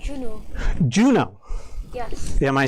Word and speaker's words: Juno: It's pronounced the month June and then O at the end, Juno.